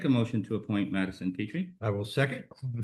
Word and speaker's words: Petrie: Miss Madison, is it Petrie? Come on down. Tell us a little bit about yourself and why you want to join. And make sure my pronunciation was correct? Yeah, Petri, like Petri dish.